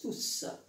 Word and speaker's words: tous: Quand le mot tout est employé tout seul, c'est un pronom et il se prononce tous.